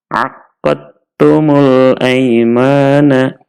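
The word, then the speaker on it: عَقَدْتُمُ الْأَيْمَانَ: Dalnya kita masukkan ke huruf ta, kemudian taknya kita tasydid, sehingga membacanya aqadtumul aimana, aqadtumul aimana.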